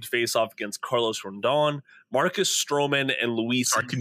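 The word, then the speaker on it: Rodón: again Carlos Ron Carlo yeah rone I think is how it's pronounced but I definitely heard an N like a Rondon or Rondon okay first time you said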